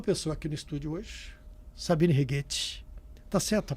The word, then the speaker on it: Sabine Righetti: Tem uma pessoa aqui no estúdio hoje, Sabine Righetti. Tá certa a pronúncia?